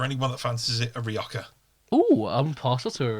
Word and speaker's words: Rioja: I can't tell whether I like Rioja or whether I just like saying J's as H's. Whether it makes me Rioja.